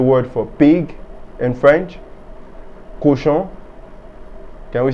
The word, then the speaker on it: cochon: Cochon.